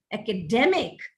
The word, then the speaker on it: academic: which is not correct make use of this derivational accent where accent shifts from one syllable to another syllable as you derive a word from you know a longer word from its root word look at this academy academic academician that's the right pronunciation of these words hypocrite hypocrisy hypocritical mobile